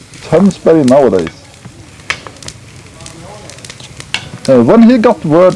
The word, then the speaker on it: Tønsberg: Harald and his army were at that time stationed in the Tunsberg, pronounced Tunsberg nowadays.